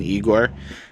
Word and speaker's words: Igor: except that it was called I Gor Igor sorry I even said it wrong I gave him a